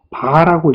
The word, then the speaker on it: VAR: 유효 전력의 단위는 와트, 무효 전력의 단위는 VAR, 바라고 읽습니다. 바.